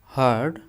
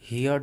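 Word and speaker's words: heard: अब ये जो होता है हर्ड पढ़ते हैं, इसे हर्ड, हर्ड हियर्ड नहीं पढ़ते हैं, हियर्ड गलत है या क्योंकि आर साइलेंट होता है, आर को नहीं बोलते हैं, इसलिए हर्ड, हर्ड इसे बोलते हैं अबाउट।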